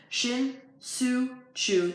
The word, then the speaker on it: Shin-Soo Choo: the East it's a three run home run shin-soo Choo that's how you say it think about that